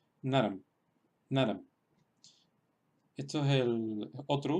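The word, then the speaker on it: नरम्: Se pronunciaría naram, naram. Sería en realidad como escribir una terminación en M, naram. Sería en realidad como si escribiéramos N-A-R-A-M.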